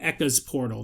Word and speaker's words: Eka's Portal: From Eka's Portal. That's how it's pronounced.